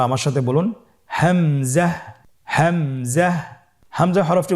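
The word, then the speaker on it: همزة: উচ্চারণ করতে হবে এবং এখানে টেনে পড়া যাবে না দ্রুত পড়তে হবে আপনারা আমার সাথে বলুন হামজা জাহ হামজাহ হামজা হরফটি উচ্চারণের স্থান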